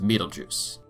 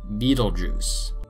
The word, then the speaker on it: Betelgeuse: stars let's start with metal juice there are a couple of acceptable pronunciations for the Stars name but many people stick with the slightly gross name of Betelgeuse the name originally comes